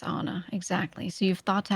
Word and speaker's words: Anna: How do you think my first name is pronounced? No. My first name? No, it's Anna.